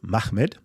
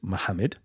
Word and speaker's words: Muhammad: could pronounce it Mahmud you could pronounce it Muhammed right right and that would be the answer it could be pronounced either of these ways either of these ways the scholars okay have said Muhammad okay the scholars have